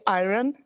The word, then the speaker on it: iron: Please remember to say iron so that it will rhyme with line.